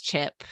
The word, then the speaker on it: Chip: And lastly, but not leastly, his name rhymes with flip. It's Chip.